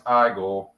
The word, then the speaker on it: Igor: Actually, it's pronounced Igor.